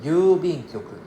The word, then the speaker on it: 郵便局: 郵便局 is 郵便局. Right. The intonation is 郵便局.